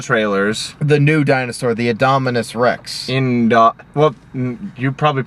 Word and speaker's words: Indominus Rex: The new dinosaur, the Indominus Rex. Well, you probably pronounced it right, but I just wanted to say it clearly. Indominus Rex.